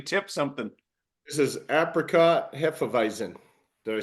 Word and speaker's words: hefeweizen: This is apricot hefeweizen.